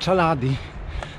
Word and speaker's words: Chaladi: Natomiast lodowiec, na którym wczoraj byłem, czyta się właśnie Chaladi.